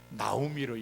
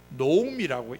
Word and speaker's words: 노음: 혼동이 되니까 복합 0.5 앞에 나오는 아오는 무조건 오로 읽는다 이렇게 원칙을 정했는데 사람들이이 원칙을 생각하지 않고 아로 읽는 바람에 나오미를 읽게 됐어요 그러나 원래는 원문에는 노음이라고 읽게 되어 있다는 걸 기억하시길 바랍니다 뭐